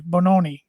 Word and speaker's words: Bononi: Bononi is how you pronounce.